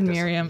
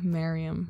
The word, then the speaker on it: Merriam: Oh, I've always said Merriam. Yeah, Webster. That would be for M-I-R-R-I-A-M. Yeah, that's true. Merriam. Merriam-Webster. It rhymes with, if you like it so much, why don't you marry it?